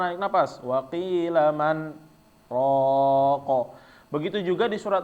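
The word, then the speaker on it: من راق: Waqilaman, seharusnya karena nun mati bertemu dengan ro, dia nyambung waqilamar. Tapi karena dia ada saktah di sini, maka bacaannya nggak nyambung ya. Jadi bacaannya waqilaman, berhenti dulu, ro tanpa naik napas, waqilaman roko.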